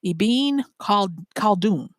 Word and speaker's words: Ibn Khaldun: by the name of Ibn Khaldun. Ibn Khaldun. And I'll spell that for you. IBN for Ibn Khaldun, Khaldun. And I know I'm not pronouncing that hard K like Khaldun, but you get the